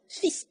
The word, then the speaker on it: fils: ， s 是会发音的， fils 一个儿子 un fils，很多